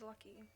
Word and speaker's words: Lucky: My name is Lucky, and it is very annoying. It rhymes with Bucky.